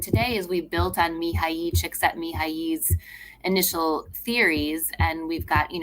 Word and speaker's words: Mihaly Csikszentmihalyi: I can pronounce it for you. It's Please. It's Mihaly Csikszentmihalyi, who's the father of being in a flow state.